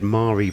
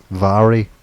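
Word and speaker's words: Mhairi: of the more entertaining MPS has been reelected Mari black Vari Vari yeah that's the that's how you pronounce it how is it is that the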